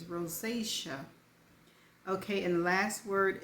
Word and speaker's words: rosacea: before so I didn't know how to spel pronounce it it's rosacea okay and the last word is spelled i